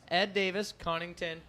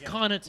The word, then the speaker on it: Connaughton: Ed Davis, Connington, and Turner, I believe, are solid. It's Connaughton. Yeah, it's Connaughton.